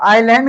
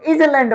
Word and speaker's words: island: और आइलैंड का जो स्पेलिंग होता है वो बड़ा मजेदार है। क्या है? ISLAND। इसको बहुत लोग इजलैंड पढ़ लेंगे।